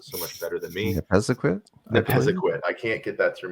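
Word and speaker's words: Nepisiguit: really good on this side of Bathurst, East Nebbesaget. How do you say that, Shawn? You pronounce it so much better than me. Nepesaquit.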